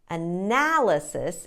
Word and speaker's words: analysis: analysis analysis or analysis no you want to put the stress on the second syllable analysis and all of the other syllables are short schwa sounds uh na le sis